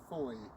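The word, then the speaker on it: Fowey: station is there's also a river called the river Foy which is spelled f-o-w-e-y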